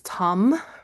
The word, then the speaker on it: tam: For all forms of Tara, the seed syllable is tam, pronounced with an aspiration, like an H in there.